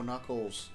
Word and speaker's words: Knuckles: No, Knuckles. But you can't pronounce the K.